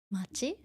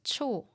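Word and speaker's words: 町: Sometimes it's, let me see, something machi, or it could be pronounced as cho as well, depending on the name of the place. Okay. But machi on its own, we just say machi.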